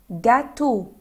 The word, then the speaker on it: gâteau: gâteau gâteau. E-A-U بننطقها se prononce et O.